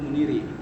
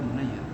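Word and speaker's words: Munayyir: Qala Al-Badr Ibnul Muniri. Munayir. Oh, Munayir. Ini bukan kitab yang Kiai Syarif sarahin. Nah, nggak tahu dah. Bukan. Nggak tahu. Tapi namanya tuh Ibnul Munayir. Orang suka bacanya Munir mulu. Ibnul Munayir.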